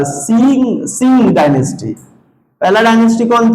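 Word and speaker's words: Xia: एक्स आई ए एक्स आई ए इसको Singh dynasty पढ़ा जाता है। क्या पढ़ा जाता है? सिंह डायनेस्टी पढ़ा जाता है। स्पेलिंग में से मैच नहीं करेगा। स्पेलिंग पे मत जाओ। इमोशन पे जाओ। सी सिंह डायनेस्टी कहा जाता है।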